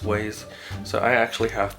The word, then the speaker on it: Waze: I use both, and I even use Waze, or Wazy, I think it's pronounced Waze.